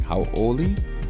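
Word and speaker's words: hauʻoli: inserting what they call an okina this is kind of like a glottal stop it helps to uh understand the pronunciation so you know that when you're saying how oie there's like a little space between how and oie so hoi makahiki ho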